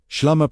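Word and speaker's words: ܫܠܡܐ: Shlama, pronounced shlama, was not chosen by accident.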